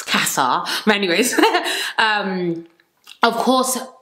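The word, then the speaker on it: Casa: it's so funny cuz the Americans say Kasa Kasa I'm like it's Kasa anyways um um of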